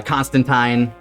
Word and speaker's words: Constantine: yeah oh and uh constantine uh shows up as well for a barista it's they actually in the comics it's pronounced tine they they do a little rhyme to show it off so uh okay yeah